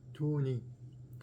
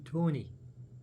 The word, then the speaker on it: Toini: Did I pronounce Toini 3 different ways? It's okay. It's not okay. It's her name. I did my best, Toini. I did. Toini. I'm trying to get the I in there.